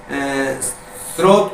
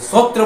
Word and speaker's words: स्रोत: या विद्यालय बोलते हैं स्रोत को सूत्र बोलते हैं तो पूरा का पूरा